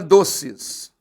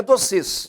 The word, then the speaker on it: doces: Por exemplo, quando eu tenho a palavra doces, ela também é uma palavra que termina em E seguida de S. Só que não é doces, é doces. A sílaba tônica é essa.